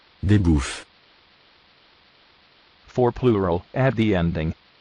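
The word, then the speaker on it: bœufs: Des bouffes. Des bouffes. For plural, add the ending. S. Final S is not pronounced. Des bouffes.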